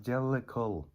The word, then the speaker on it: Jellicle: come from i mean it's the gel le cool it's pronounced jellicle sorry and uh explained